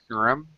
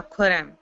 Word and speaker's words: Khurram: Am I pronouncing your name correctly? Is it Kuram? Yeah, Khurram.